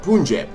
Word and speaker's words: Punjab: the name right punjab it was really interesting to learn that this was not actually pronounced pane but punjab okay that is something